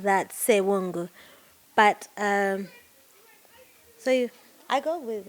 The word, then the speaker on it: Ssewungu: So, naturally, my name's pronunciation is supposed to be Ssewungu.